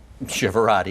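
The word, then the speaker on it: Chiavero: the best way which is my last name shivera I need you to spell that it's c h i a v as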